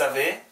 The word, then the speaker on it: avez: j'ai, tu as, il a, elle a, 여는, nous avons, 여는, vous avez, EZ 붙어 있으면 E 발음 나와요. Vous avez.